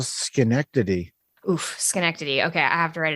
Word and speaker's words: Schenectady: Oof, Schenectady.